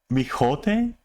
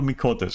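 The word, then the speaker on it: Miqo'te: Mijote? What kind of accent was that? Mijote? Mijote. What? Is that how you pronounce that?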